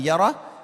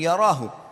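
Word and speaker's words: يره: Wa man ya'mal mithqala dzarratin syarran yarah. Kalau diberhentikan bacanya yarah, tapi kalau dibaca langsung yarahu.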